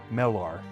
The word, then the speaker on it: Melar: Mel is the syllable. Okay, so yeah, Melar. Melar.